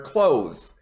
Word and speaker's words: clothes: say clothes don't worry about it being two syllables say it the exact same way as clothes i close the door i wear clothes uh i am wearing clothes that's a good